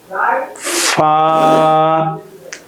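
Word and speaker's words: ف: صاد ضاد ط ظ عين غين ফা। ফার মাখরাজ হলো নিচের ঠোঁটের পেট উপরের দুই দাঁতের আগার সঙ্গে লাগিয়ে উচ্চারিত হয়। নিচের ঠোঁটের পেট উপরের দুই দাঁতের আগার সঙ্গে লাগিয়ে ফা উচ্চারণ করতে হয়।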